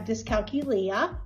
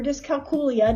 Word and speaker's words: dyscalculia: I have dyscalculia or dyscalculia, depending on how you pronounce it.